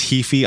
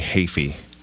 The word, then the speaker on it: Heafy: Because I thought I had it right, and then I've seen that you pronounce it differently. Everyone always says Heafy. I never correct them. It's actually Heafy.